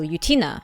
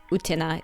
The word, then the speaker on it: Utena: to a character from revolutionary girl utina or other utena is the proper pronunciation while talking about the